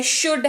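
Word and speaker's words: should: हमारे पास वो है शुड हैव एस ह ओ यू एल दी और इसको शुद्ध पढ़ते हैं एल जो है वो पढ़ते वक्त साइलेंट रहता है और इसको शूट पढ़ते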